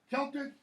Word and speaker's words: Celtic: Celtic, even though it's spelled with a C, that's a k sound.